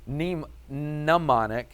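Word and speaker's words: mnemonic: It's nmon, not demonic. That's quite different. Nemonic, but it actually is spelled with an M.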